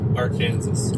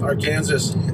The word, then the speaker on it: Arkansas: arkansas headwaters recreation area i think it's pronounced our kansas our kansas yeah but my point